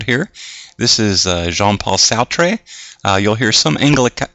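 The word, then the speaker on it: Sartre: power couple pictured here this is uh jean-paul soutre uh you'll hear some anglica anglicanized pronunciations of his name as uh sart but more often is jean-paul sautre they were lifelong lovers both philosophers and uh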